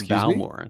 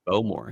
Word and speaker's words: Bowmore: I love well pronounced cuz it's not Bmore. It's Bowmore.